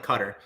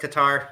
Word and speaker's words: Qatar: your cutter qatar i've i've heard it either one works my foreign policy teacher in school was always like cutter but everyone else says qatar there's like a bunch of different ways you can pronounce it either way we just